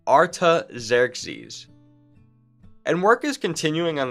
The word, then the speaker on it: Artaxerxes: is someone called artaxerxes such a cool name pronounced artaxerxes and work is continuing on the temple when